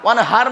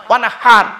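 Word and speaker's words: وانحر: হ্যাঁ, ইন্না আতাইনা কাল কাউসার ফাসাল্লি লিরাব্বিকা ওয়ানহার, ফাসাল্লি লিরাব্বিকা ওয়ানহার, ওয়ানহার নয় ওয়ানহার। এই গলার ভেতর থেকে হেটা উচ্চারণ করবেন। মুরব্বীদের বলে যাচ্ছি, ফাসাল্লি লিরাব্বিকা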